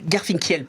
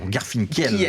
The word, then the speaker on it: Garfinkiel: Garfinkel plutôt. Garfinkel. C'est comme du miel en fait. Ouais, généralement tu dis pas du meule, mais c'est ça. Voilà, Garfinkel.